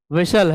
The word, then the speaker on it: whistle: तो देखिए पहला वर्ड यहां आपको समझ में आ रहा है, H साइलेंट है। फिर उसके बाद क्या साइलेंट लग रहा है? T साइलेंट लग रहा है भाई, क्योंकि T का प्रोनाउंसिएशन ही नहीं रहा है। क्या पढ़ते हैं? विशल। तो इसमें T भी क्या है? साइलेंट।